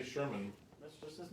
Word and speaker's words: Sherman: It's Sherman. Peabody and Sherman. Oh, I was gonna give him a clue and tell him it rhymes with Thurman.